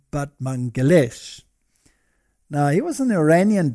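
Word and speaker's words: Batmanghelidj: over here batman but apparently you pronounce it but mangalesh now he was an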